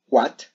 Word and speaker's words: what: No, resulta que suena como una J aspirada y en realidad se pronunciaría what, where y who.